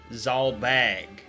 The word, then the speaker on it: Zalbag: So I was right about Dysadarg pronunciation, but it's Orlandu and Zalbag, which is a little weird.